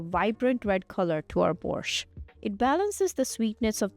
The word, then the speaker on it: borscht: Who wants to learn how to make borscht? So it's spelled B-O-R-S-C-H-T. The T is silent, so it's borscht.